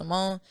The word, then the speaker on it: $YMMMONE: $YMMONE is pronounced Ymmmone.